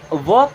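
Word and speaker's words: walk: है चलना या टहलना इसे वाल्क नहीं पढ़ते हैं एल यहां पर साइलेंट होता है ठीक है जब भी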